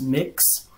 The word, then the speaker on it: Mx: know someone's gender like mx it's pronounced mix these are things that